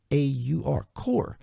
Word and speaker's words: Kaur: Kaur. I actually got on YouTube today and said, "How do you pronounce that?"